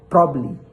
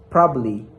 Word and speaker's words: probably: that probably so the second syllable is deleted. So the B in the last se in the last word is that deleted. So for the right answer is probably probably probably probably then English word